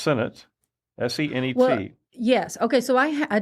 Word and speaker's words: senet: think it's based on senet right I think you're right okay Senate I've heard it's senate or CET um there was also